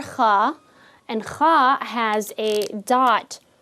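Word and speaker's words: خ: So dig deep, Kha, think of Kha really, really deep down, a deeper sound than the K sound.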